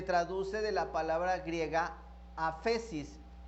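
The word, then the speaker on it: ἄφεσις: La palabra perdón se traduce de la palabra griega aphesis. Voy a decir aphesis, pero aphesis se escribe con PH, ¿sí?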